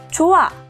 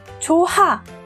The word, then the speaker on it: 좋아: 것인지 잠깐 확인해 보겠습니다 좋아 여러분 발음하면 발음이 어떻게 되죠 조하가 아니고 좋아로 발음됩니다 이때는 히읗이 탈락했죠 이처럼 원래 있던 의문이